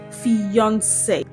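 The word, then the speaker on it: fiancé: Did you know that these two words are actually pronounced the same way? Yes. These words are homophones. They have the same pronunciation.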